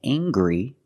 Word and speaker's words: angry: Anger is a noun, and angry is a description. I can say he's very angry. We use the nasal sound, plus the hard G.